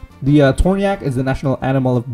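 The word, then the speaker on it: Tornjak: national animal it's a tourniquet that's how you pronounce it yeah tornya the torniak is the national animal of bosnia it is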